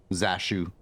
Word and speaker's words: Zashu: Zashu, your name rhymes with cashew also.